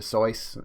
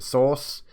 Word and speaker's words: Seuss: a while back that it was pronounced dr seuss and then ayla says pronounced dr sauce um but yeah everyone